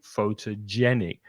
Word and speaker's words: photogenic: that that person is photogenic. mhm, Photogenic. Photogenic. So again, we're mm, stressing the third syllable there.